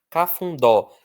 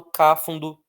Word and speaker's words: cafundó: Cafundó. Eu não falo cáfundo. Eu não falo cafundo. Eu falo cafundó. Cafundó. Então, a força está no dó.